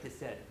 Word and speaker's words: Hesed: So Hesed, depending on how you spell it in English, it's either C-H-E-S-E-D or H-E-S-E-D, is how it's transliterated in English.